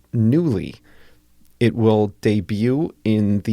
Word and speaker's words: Nuuly: They announced a new venture called Nuuly, Nuuly. It's spelled oddly, but it's pronounced Nuuly.